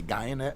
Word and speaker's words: Guyenet: for sure, Stefan Guyenet, he says pronounced like DNA. I would just say Guyenet, because I'm American.